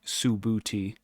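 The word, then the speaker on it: Subhuti: trying to recall uh I looked up sabuti um Su BH UTI and it's literally subti so I will keep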